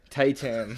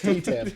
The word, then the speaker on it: T-Tam: Tay-Tam. It's T-Tam. It's literally T-Tam. I don't know why I've said Tay-Tam.